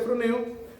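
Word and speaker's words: φρονέω: una palabra griega que se escribe frone se pronuncia frone pero significa pensar significa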